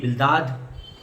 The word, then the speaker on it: Bildad: अगर जो इंग्लिश में लिख रहे हैं वो सब, मैं फिर एक बार चारों नाम बताऊंगा, आप स्पेलिंग लिख लीजिए। ELIPHAZ एलिफाज, फिर BILDAD बिल्दाद, ZOPHAR जोफार, और ELIHU एलीहू, है ना।